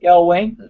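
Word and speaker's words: McElwain: autistic manager Jason M mccoin what's his last name can you pronounce it for I Mel Wayne Mel Wayne now known the world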